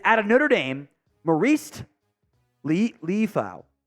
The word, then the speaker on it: Liufau: It is out of Notre Dame, Marist Liufau. Liufau, I think is how it's pronounced. Liufau, that's how it is.